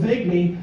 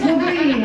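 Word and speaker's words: Lavigne: Why don't I be or I mispronounce artist name she likes like I sure like that Advil Levy. She's like it's Lavine.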